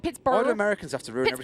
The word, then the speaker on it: Pittsburgh: two huh pittsburgh knights it's burr why are you saying i like you from bristol it's pittsburgh it's but oh no